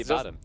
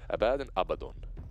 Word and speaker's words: Abaddon: What about the Abaddon? Just for you today. Abaddon. See, Abaddon.